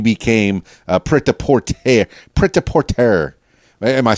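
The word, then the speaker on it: prêt-à-porter: birthda poor today okay like porter but it's pronounced a little bit differently because you know every language has their own phonetics and so forth but you're doing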